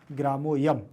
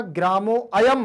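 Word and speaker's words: ग्रामोऽयम्: बस इसमें आप इसको पढ़ते समय ध्यान रखना, ग्रामो अयम मत पढ़िएगा, इसको पढ़ेंगे आप ग्रामो यम। ग्रामोयम आपको लगना चाहिए कि मैं आ का उच्चारण कर रहा हूं, सामने उच्चारण बिल्कुल नहीं इसका निकलना चाहिए अयम का, ठीक है।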